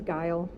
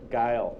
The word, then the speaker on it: Gile: pronounce your name correctly it's guile guile thank you you're welcome